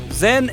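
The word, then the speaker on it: 甄: le nom de canton Zen est la prononciation du nom de la fille de la dialecte Pékin tandis que la famille yen et la prononciation cantonnaise le père de la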